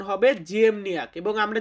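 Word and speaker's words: ziemniak: আলু আছে না, আমরা যে আলু খাই, পটেটো বলি ইংরেজিতে, তো এই আলু এটাকে বলা হয় জিয়েমনিয়াক। পোলিশ শব্দ জিয়েমনিয়াক মানে হচ্ছে আলু। আলুর পোলিশ উচ্চারণ হবে জিয়েমনিয়াক।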